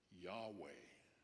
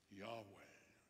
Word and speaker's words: Yahweh: And in Hebrew, which you may know, has no vowels. It's four consonants. YHVH. We think that's pronounced Yahweh. Yahweh.